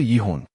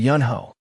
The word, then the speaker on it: Yanho: CEO Yihun. He curtly corrected her. No, it's CEO Yanho.